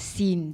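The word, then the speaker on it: Seine: says that I thought the S sign river is pronounced as scene the ey is silent I don't care I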